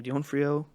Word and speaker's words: D'Onofrio: I don't know how to pronounce his last name. D'Onofrio.